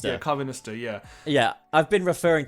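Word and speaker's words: Karvanista: Carvanista. Yeah, Carvanista, yeah.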